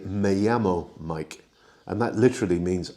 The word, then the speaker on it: llamo: Now, note the double L sound is y in Spanish. So where you see a double L, as you do at the beginning of the word llamo, the pronunciation is llamo rather than llamo.